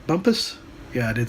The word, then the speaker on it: Bumpus: Got my bike towed over to Bumpus. Did I say it right? Bumpus? Yeah, I did say that right. Bumpus.